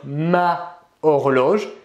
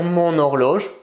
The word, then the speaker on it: mon horloge: un mot féminin donc on pourrait penser qu'il faut dire ma horloge et pourtant il faut dire mon horloge pourquoi puisque l'homo horloges ne commence pas par h inspiré il commence par un h muet d'ailleurs comme il s'agit